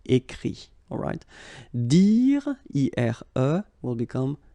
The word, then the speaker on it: écrit: Écrire, to write, will become écrit. Okay? Remember that phonetically this final T doesn't exist. Okay? So the sound will be only this I, écrit.